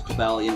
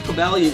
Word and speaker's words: Cobalion: Well, of course, Cobalion, which I believe is the proper pronunciation.